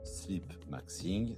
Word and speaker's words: sleep maxing: On prononce sleep maxing, c'est un mot anglais formé à partir de sleep, dormir donc, et maxing, qui vient de maximum.